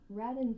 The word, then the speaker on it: rattan: Radin furniture. Radin furniture. Radin furniture. Radin furniture. Ugh. It sounds a little bit unpleasant. Radin. Sounds a little bit like red.